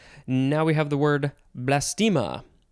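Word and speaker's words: blastema: we have the word blastima it's blast plus ema noun from circa 1823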